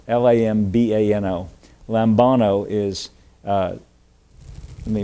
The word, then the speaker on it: lambano: the New Testament is a Greek word uh pronounced lambano l-a-m-b-a-n-o lambano is uh let me make sure I